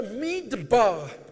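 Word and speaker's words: מִדְבָּר: ఈ అరణ్యం అనేటువంటి మాట it's the word the midbar. Midbar. మిద్బార్ అనే మిద్బార్. But it's also pronounced, if you take the punctuation of the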